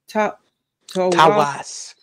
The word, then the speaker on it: Tawas: So it's T-A-W-A-S.